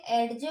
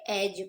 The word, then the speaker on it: edge: EDGE एडजे नहीं, अब हम इसे क्या पढ़ेंगे? एज पढ़ेंगे अब हम इसे, ओके।